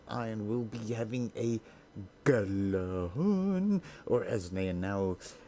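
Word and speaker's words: Gjallarhorn: Now everybody in Rise of Iron will be having a Galahorn, or as they are now re-pronouncing it, Galahorn.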